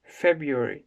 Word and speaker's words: February: February diyeceksiniz. Yani ilk R yok.